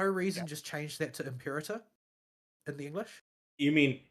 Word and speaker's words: Imperator: Well, Imperator is how you would pronounce it in ecclesiastical Latin.